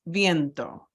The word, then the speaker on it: viento: I say it makes viento viento the V is a b as in boy sound like that so viento implies sometimes